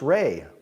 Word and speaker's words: Ry: awesome Ry say hi Ry it's pronounced ray ray ray you can